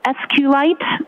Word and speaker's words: SQLite: SQL lower it and sqlite uh is also commonly pronounced as SQ light so both pronunciations are acceptable now once you received